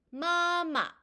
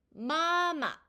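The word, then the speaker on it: 妈妈: 일성뒤에 경성이 왔을 때 마마, 마마 이렇게 소리가 납니다. 일성은 우리가 오에서 오, 즉 솔에서 솔로 소리가 쭉 나는 소리였었죠. 그래서 마라고 발음을 하고요. 이 일성 뒤에 경성이 왔을 때는 음의 높이가 뚝 낮아지면서 마마, 마마 이렇게 소리가 나는 것입니다.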